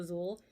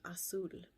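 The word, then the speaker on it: Azul: then cool asul um i think a lot of people uh pronounce it cool azole which is why i think they named it that but it's actually pronounced asul that's a pretty color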